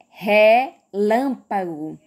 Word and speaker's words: relâmpago: o jé e agora relâmpago viram que eu dei um destaque por lan porque porque o liam é a sílaba tônica da palavra relâmpago tá certo uma dica